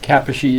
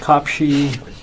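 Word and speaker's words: Kaposi: it from several KS Kappa she is properly pronounced cop she although his name was Morris Cohen it just came from the town of cop she wear the cup she river was why yes so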